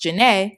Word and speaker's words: Zhané: On February 15th, 1994, their debut album, Pronounced Janae, was released.